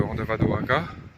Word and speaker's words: Andavadoaka: est au nord de Andavadoaka andavadoak que je prononce mal il faut pas prononcer le à la fin donc c'est assez assez